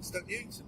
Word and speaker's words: Stoke Newington: Stoke Newington was this kind of just by How'd you pronounce it? Stoke Newington. Stoke Newington. Stoke. And then Newington.